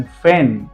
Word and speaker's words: feign: Then फैन, ये मेरा बहुत बड़ा फैन है, FEIGN, यहाँ पर भी जी के बाद एन है, जी को साइलेंट रखा है, डायरेक्ट फैन।